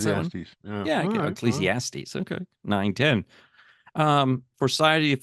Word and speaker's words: Ecclesiastes: Ecclesiasticles, whatever it's. How do you pronounce that one? Yeah, okay. Ecclesiastes.